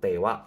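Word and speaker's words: ては: atau biasa disebut bentuk tewa Ike maseng walaupun ditulis menggunakan hiraganaha tapi cara bacanya ini menjadi karena sebuah partikel nah ketika tidak boleh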